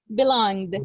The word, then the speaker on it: belonged: next one belong belong so in the past we say belong belong belonged belong belonged you see belong the E doesn't have a sound so here we go